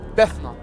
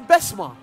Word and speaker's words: Bessma: it let's do it I think I've been saying your name wrong is your is your name sister bessma yes ah I'm so sorry